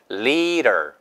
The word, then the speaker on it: leader: leader. 지도자가 leader예요. leader. 이것도 리더. 이거 아니에요, 절대. 리를 길게 하시고 D 발음이 리을로 바뀌죠.